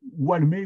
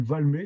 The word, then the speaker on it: Valmer: qui rencontrera Eulalie Eulalie Valmer walmé ou Valmer si vous prononcez les W comme moi ça fait walmé sinon c'est Valmer qui est également normalisé